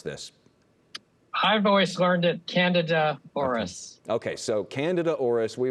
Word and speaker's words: Candida auris: How do you pronounce this? I've always learned it Candida auris.